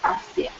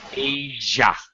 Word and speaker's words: Asia: Britain to part of Asa stretching what is the stretching Britain that's what we now call England okay and Vienna be careful of pronunciation Asia Asia Asia there you go long egg uh okay